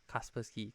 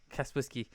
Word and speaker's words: Kaspersky: is a Kaspersky one or how do you pronounce it Casper sky Kaspersky Naposki Kaspersky so we're using that one okay and Kaspersky